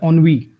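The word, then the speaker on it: ennui: इसकी प्रोनाउंसिएशन है ऑनवी, ऑनवी, ऑनवी, ऑनवी, ऐसे करके, ठीक है।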